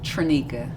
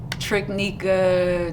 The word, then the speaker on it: Traneka: forget kids don't forget so what is the correct pronunciation of your name trinica trinica yes trunica like say it with me what have you got uh triknika tramika tanika just yeah just